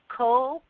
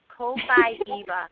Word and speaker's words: Copaiba: And remember how, I just want to reiterate, Copaiba. Copaiba.